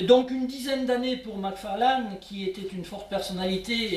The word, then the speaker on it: McFarlane: Samuel McFarlane, je vais prononcer à la française, a régné, il faut